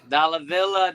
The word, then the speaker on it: Dalla Villa: Because I wanted it so badly to rhyme with dollar bill. And it did. And I was very happy. That's right, man. Dalla Villa, dollar bills.